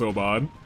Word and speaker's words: Obad: Good job, Abaid. Yes. Obad. We're gonna call her Abaid for so long. Her name is pronounced Obad.